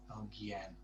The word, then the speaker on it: alguien: Don't pronounce the U at all. It's just there to harden the G, and the same with Alguien, not Alguien. Alguien.